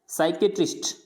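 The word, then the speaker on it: psychiatrist: Silent होता है, अगर एस से पहले पी आ रहा है तो वो हमेशा साइलेंट रहेगा। जैसे एस से पहले पी आ रहा है साइकोलॉजी, पर साइको नहीं बोलना है इसको, साइकोलॉजी, साइकेट्रिस्ट, साइकेट्रिस्ट, यानी यहाँ पे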